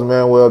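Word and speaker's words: Manwell: like man so because it's not spelled like my manwel is not spelled the Spanish way m a n u e l it's m a n w e l l and so for the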